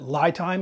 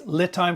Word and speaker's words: LiTime: did my first review I called it lie time because Li to me sounds like lie but it's liit time for lithium time so just so you